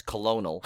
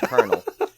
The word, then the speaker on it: colonel: See, another word I used to pronounce colonel when it's colonel.